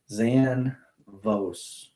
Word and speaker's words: Zanvos: That company off Instagram, Zanvos. So it sounds exactly like it's spelled off Instagram.